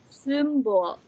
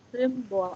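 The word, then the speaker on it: Symbol: Kemudian ini ada S, Y, M, B, O, L. Kita nggak bacanya nggak simbol lagi, tapi simbol. Agak kayak simbol, artinya simbol.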